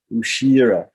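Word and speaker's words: उशीर: That should be a long I here. Ushira.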